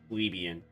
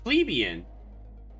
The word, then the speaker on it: plebeian: Plebian is pronounced like plebeian. Well, yeah, plebeian.